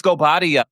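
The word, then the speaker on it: Guobadia: was returning Porsha go she couldn't even say his name goia I was like girl it's goia come on say your married name learn how to say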